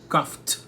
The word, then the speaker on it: coughed: Então, para se manter na mesma vibração, na mesma vibe, coughed é a pronúncia.